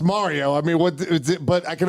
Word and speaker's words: Mario: They one of their hosts over there says Mario all the time, and it kind of annoys me. But it's got to be understood at this point that it's pronounced Mario.